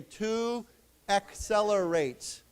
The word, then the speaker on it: accelerate: Accelerated. Accelerated. Accelerated. Accelerated. Remember that this C here is a K sound. C. And this second C is a S. So as a tons we say to accelerate.